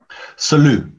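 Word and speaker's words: Selous: Salut. Salut. Yeah, French name, originally. Salut, yeah. Salut. Ah, I see, silent S.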